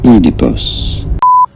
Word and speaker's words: Oedipus: You do want to stress on the first syllable. Oedipus.